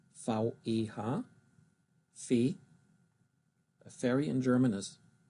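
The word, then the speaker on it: Veh: And pronounced in German, it's Fee, which really doesn't have much of a meaning.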